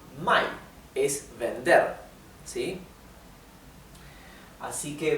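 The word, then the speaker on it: 买: Mai, o sea, el tono es cae y sube. Mai, ¿bien?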